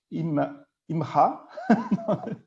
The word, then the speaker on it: MRA: And this NGO is Mobilizing for Rights Associates, or MRA, or I can pronounce it as well, IMRA, which means woman in Arabic.